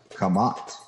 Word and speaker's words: Kemet: This is how the word for ancient Egypt is phonetically spelled, Kamat.